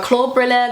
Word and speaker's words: Klobrille: So Klobrille, that's how I pronounce it.